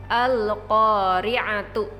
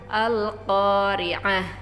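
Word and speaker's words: القارعة: Contohnya, al-qari'atu ya, dibaca al-qari'ah, mal qari'ah, amilatun nasibah.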